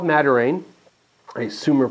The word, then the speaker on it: Madiran: It's an area called Madiran. I assume we're pronouncing it correctly. I keep wanting to say Madrain, but that's not it because that's the me flipping the letters around.